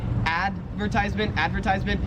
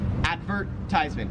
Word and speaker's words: advertisement: 31 is advertisement, and the difference is like which syllable you stress. So in American English, we would say advertisement, and in Australian English, you say advertisement. It's like there's more emphasis on the verb.